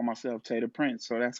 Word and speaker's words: Tay Da Prince: my daughter that I think your name is Ta Da Prince, but I might be wrong. me. Yeah, nah, it's Tay Da Prince. Tay Da Prince.